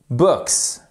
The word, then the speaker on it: books: Et on prononce ce S, contrairement souvent à ce qu'on fait en français. Book, books, ok?